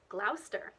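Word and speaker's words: Gloucester: that end with c-e-s-t-e what you think might be pronounced as chester but is actually stir so you've got places like lester glauster bister lemster and in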